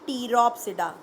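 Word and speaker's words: Pteropsida: देखिए 4 क्लासेस हैं, सीलोप्सिडा, P silent, लाइकोप्सिडा, स्फीनोप्सिडा एंड टीरोप्सिडा, P silent.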